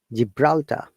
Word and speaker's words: Gibraltar: sounds so look at the g plus i made it giant gibraltar jillian anderson the famous